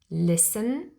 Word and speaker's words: listen: the silent T here we always spell the letter t but we never pronounce the T and that is the